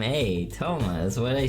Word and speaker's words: Touma: Everyone, my name is Toma.